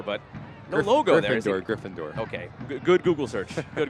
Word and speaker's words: Gryffindor: last half hour but no logo gind door Gryffindor okay good Google search good Google search you actually did pronounce it right so good for you what